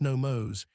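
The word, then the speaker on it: νόμος: The Greek word is nomos, pronounced nomos.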